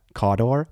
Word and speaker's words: Cawdor: Cawdor? Cawdor! There it is. There it is. There it is. Yeah, dude, my entry on Golden Demon, it specifically said caw, and then in parentheses, bird sound, door, which I don't